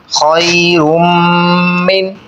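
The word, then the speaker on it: خَيْرٌ مِّنْ: طریقہ جان لیتے ہیں۔ خو یا زبر خوئی، را میم دو پیش، رم خیرم میم نون زیر من، خیرم من، یہاں پر میم مشدد پہ غنہ کریں گے،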